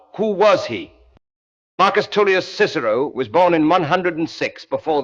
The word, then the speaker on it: Cicero: The English Cicero is the Cicero of the church, of the law courts, of the medieval schoolroom, the continental kicero is the Cicero of the humanist recovery, the attempt to get back behind the medieval transmission to the Roman original.